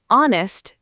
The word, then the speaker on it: honest: The word honest begins with a silent H, We say honest.